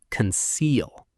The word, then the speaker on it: conceal: The stress is on the second syllable, conceal. The first part is light and quick. Don't say conceal. Keep it relaxed.